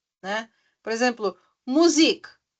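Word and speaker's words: Musik: D né Por exemplo music music o também é um pouquinho mais esticadinho né ã depois do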